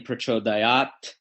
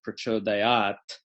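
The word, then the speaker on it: pracodayāt: In my philosophy, I don't engage in artificial revivalism, meaning to say, just because I know that it was originally pronounced Prachodayat, I'm going to follow a living tradition, right?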